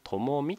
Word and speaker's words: 具視: だけ着物和服です岩倉具視と書いてともみと読みますこの人は公家